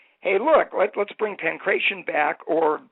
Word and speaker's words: pankration: In 1993, the Greeks said, hey, look, let's bring pankration back, or the way the Greeks pronounce it is pakration, and let's come up